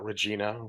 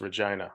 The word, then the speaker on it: Regina: is Regina now Americans like to call it Regina for obvious reasons but it is pronounced Regina it's the Queen City and kind of had